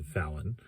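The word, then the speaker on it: Vauen: Fallon is V-A-U-E-N. I've heard it's pronounced Fallon.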